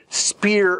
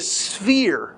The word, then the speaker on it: sphere: think it's funny when people mispronounce spear of influence it's a sphere it's a sphere of influence and it's constantly